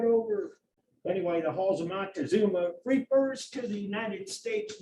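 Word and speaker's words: Moctezuma: film here monta which is the more correct pronunciation for a long time it was montezuma it just kind of slid right over anyway the halls of mock to zuma refers to the united states marine corps during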